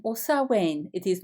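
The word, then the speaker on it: Samhain: outgoing mother they simply don't understand Wayne is pronounced selwain or sauwen it is not Sam Hayne the various names for this sabbath are sir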